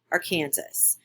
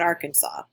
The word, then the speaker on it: Arkansas: that are not from kansas in kansas we pronounce it our kansas not arkansas um i was a special educator there for